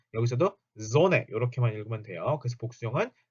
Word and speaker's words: Sonne: 그리고 우리가 배우는 지금 단어는 Sonne, die Sonne 요렇게 그 M이나 N이 여러 개가 그러니까 두 개가 붙어 나올 때 발음 콤맨, 큰맨 요렇게 하지 않습니다. 여기서도 Sonne 요렇게만 읽으면 돼요.